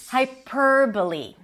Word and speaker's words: hyperbole: And a lot of people say hyperbole. Hyperbole. And it's not.